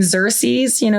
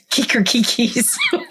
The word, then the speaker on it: Xerxes: What was, the other one that I really love is the name Xerxes, that's spelled Xerxes. He says, Kikerkikis.